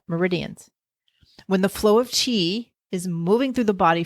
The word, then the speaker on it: qi: And from a traditional Chinese medicine perspective, the theory is based on the concept of chi, not cheese that you would put on a cracker, chi.